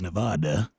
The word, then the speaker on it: Nevada: It's Nevada. Nevada. Yep. Is that Nevada? Nope, it's not Nevada. It is Nevada. All right, so Nevada. Yep. Like duh. Nevada. No, Nevada.